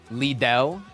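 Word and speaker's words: Lidl: Leiddell. I I don't Leiddell. How am I saying it? Wait. Little but with D's. Little.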